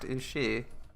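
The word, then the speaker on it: 牛: And it is actually pronounced ushi.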